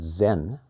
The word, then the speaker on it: Zen: But let me just, for those who may not be familiar with this, this word Zen and Zazen is a Japanese pronunciation of a word that came to them in Japan from China.